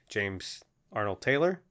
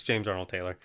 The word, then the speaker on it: James Arnold Taylor: james arnold taylor yeah taylor arnold arnold taylor i think it's arnold taylor i think and i think he said taylor i did say it wrong yeah it's james arnold taylor yeah whatever yeah we